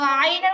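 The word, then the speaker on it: ع: তো আইনের উচ্চারণ কি হবে?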